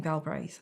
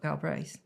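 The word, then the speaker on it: Galbraith: so I became Robert galra I liked the rhythm of it Robert galb is nice two syllables two syllables I like rhythm in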